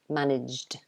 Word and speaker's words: managed: gayan is asking me e d is pronounced weak um yes so it's a d sound it's the weak ending so it's pronounced managed like that so it's not managed which is the strong ending it's the soft ending managed like that managed